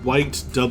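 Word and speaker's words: Wych: look at thing yeah it's spelled white wy CH 1 3 1 5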